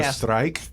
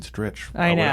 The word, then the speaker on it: Stritch: that because the spelling of my name originally is much more Germanic s r e i c h is that why you like people look at it they go strike right but we always pronounced it stretch in my family forever so when I